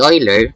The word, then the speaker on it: Euler: national deflection anyway another leonard euler the oiler middleweight pronunciation spoiler de